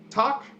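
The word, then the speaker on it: takk: Thank you is talk.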